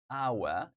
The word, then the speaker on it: hour: is Happy Home Hospital our H is silent guys here our and